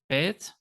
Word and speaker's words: Bet: So if you see Bet with the dot, you pronounce it as a B.